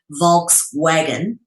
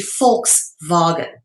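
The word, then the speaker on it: Volkswagen: all right which is most people would say vog wagon but it's actually FK vagon all right because the V is pronounced as an F in the Germanic and Dutch languages so V and F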